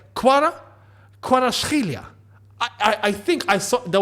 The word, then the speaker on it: Kvaratskhelia: I know that it's Kuara, or like it's not an actual V, it's a W. It's pronounced a W even though it says V. So it's like Kvaratskhelia.